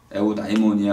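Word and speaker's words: εὐδαιμονία: 에우다이모니아 할 때 요때는 에우라고 읽어야겠죠. 유라고 안 읽히고 에우.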